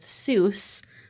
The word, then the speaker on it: Seuss: with Rejoice um but he decided to go with Seuss because it rhymes with goose as in Mother Goose um so he wanted